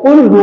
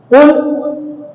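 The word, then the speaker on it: قُلْ: সূরা ইখলাস শুরুতে আছে কুলহু আল্লাহু আহাদ কুল বড় কফ শব্দের অর্থ হচ্ছে বড় আপনি বললেন কুল ছোট কাজ এর অর্থ হচ্ছে খা তাহলে শব্দের উচ্চারণের পার্থক্যের কারণে অর্থের পরিবর্তন হয়ে গেল আর মাসআলা হচ্ছে অর্থের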